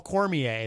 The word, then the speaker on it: Cormier: Make sure when you see him, though, you refer to him as Paul Cormier. That's the correct way to say his last name.